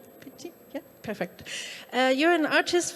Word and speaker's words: Picchi: And last, but by no means least, we have, I hope I pronounce it correctly, Cristina Picchi. Picchi?